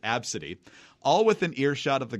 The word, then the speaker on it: Abcde: Southwest Airlines has apologized for a gate agent who reportedly laughed at a 5-year-old passenger's name, spelled Abcde and pronounced Abcde, all within earshot of the girl and her outraged mother.